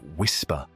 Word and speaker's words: WSPR: specifically the weak signal propagation reporter or WSPR often pronounced whisper.